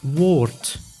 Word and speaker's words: woord: But at the end of the word, the D is pronounced as T, like in woord, which means word.